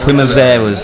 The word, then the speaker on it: Primaveras: How do you pronounce the band name, sir? Primaveras.